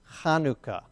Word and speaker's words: Hanukkah: hanukkah is technically pronounced hanukkah not hanukkah it's not a an h sound it's really the ha sound and that's why sometimes